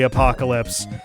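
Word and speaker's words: Apokolips: a-p-o-k-o-l-i-p-s or something like it's phonetically apocalypse but it's not spelled like the apocalypse and it's like you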